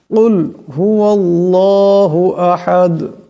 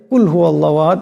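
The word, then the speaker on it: قُلْ هُوَ اللَّهُ أَحَدٌ: রাজিম বিসমিল্লাহির রাহমানির রাহিম কুলহু আল্লাহু আহাদ এখানে বড় কাফ আছে আমরা প্রায় সময় উচ্চারণটা খেয়াল না করে ছোট কাফ পড়ে নেই কুলহু আল্লাহু এমন করে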